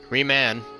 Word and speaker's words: Reman: We gotta get to the bottom of this because I have no clue how to actually pronounce that name. Reman. Reman. Was it? Reman. Okay, Reman.